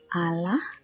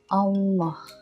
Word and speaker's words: Allah: So it's not Allah. It's Allah. Makanannya. Double N, so you pronounce the N twice.